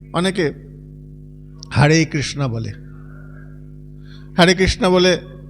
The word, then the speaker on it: হরে: এখন যারা বলছে তারা বিদেশি, বিদেশিদের জীবের জিহ্বার গঠনটা এমনভাবে তৈরি, তারা এমনভাবে বলা অভ্যস্ত, তারা অয়ের উচ্চারণ করতে পারে না, তাই ওরা আয়ের উচ্চারণ করে, কৃষ্ণা বলে, হারে বলে।